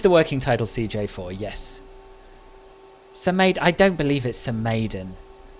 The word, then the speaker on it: Samedan: And today we're going to Samedan, which I'm told is how it's pronounced. I used to say Samedan, but I've heard this third hand, but this is how Luca, who is Swiss, pronounced it apparently, so that's what I'm